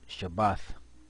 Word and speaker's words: Shabbat: So the Sabbath, what you see here is Shabbath, and that's how you pronounce it.